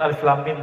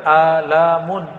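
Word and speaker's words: الم: masih bahasa bumi, sedangkan Alif Lam Mim bahasa langit, ya. Semua orang Arab bingung. Kita alhamdulillah diizinkan Allah Subhanahu wa taala mendapatkan ayat-ayat seperti ini. Dan dibacanya bukan alamun.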